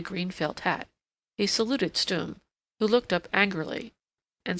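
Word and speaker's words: Stumm: grin why it's Colonel stum he cried he pronounced it like the first syllable and stomach very pleased to meet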